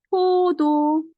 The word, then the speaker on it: 포도: And next is 포도. 발음 좋아하죠? 포도 is grape. 포도. Yes. But when you pronounce wrongly, 보도 is passenger way.